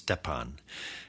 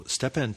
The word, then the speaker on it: Szczepan: It's spelled S-Z-C-Z. That's 4 letters before we reach a vowel, which is E, and then P-A-N. And I think that's Szczepan. And then Twardoch is T-W-A-R-D-O-C-H. So Szczepan Twardoch, at the age